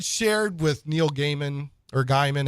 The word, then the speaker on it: Gaiman: with Neil Gaiman or Guymon how do I get corrected every time I say Neil Gaiman how do you say avoid oh I think I normally hear people say Gaiman Gaiman okay but I think